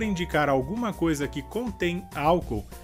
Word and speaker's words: álcool: Em português seria álcool. A diferença então seria que em espanhol a sílaba forte seria ol. E em português seria a sílaba inicial que seria ao.